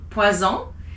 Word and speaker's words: poison: If it's one S in the middle of a word like poison, it's a Z. Sounds like a Z, poison.